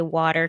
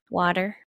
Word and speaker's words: water: says I can't say water correctly say it again water water water water he says I pronounce it as a d instead of a t uh water that's how